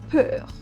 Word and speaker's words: peur: Example, peur.